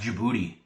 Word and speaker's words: Djibouti: This is pronounced Djibouti. It's right here. It's this little dot right here. Djibouti.